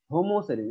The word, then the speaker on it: হোমোসেরিন: ছুটে গেছে হ্যাঁ তবে এখানে হোমোসেরিন এর উচ্চারণ হবে হোমো হয় ওকার হয় হয় ওকার মানে হোমোসেরিন এখানে স্পেলিং দেওয়া আছে